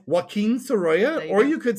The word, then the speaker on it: Sorolla: It's Wim Soya or you could say Wim Soya.